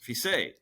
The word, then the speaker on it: Fiset: Fiset. That is a better pronunciation than I have of my own name.